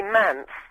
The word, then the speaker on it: Mance: My family call me Mance. Mance. Mance, which is the middle syllable, because when I was